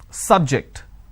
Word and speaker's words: subject: Now, I'm using another example. Please don't subject the students to any tests. So here my stress has moved to the second syllable.